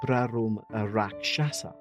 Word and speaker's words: Brahmarakshasa: Rumour had it that it was haunted by something called a Brahmarakshasa, pronounced as Brarum Rakshasa. Say it faster.